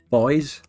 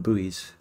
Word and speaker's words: buoys: boat-centric build might mean making boys or I should pronounce them buoys boys will be boys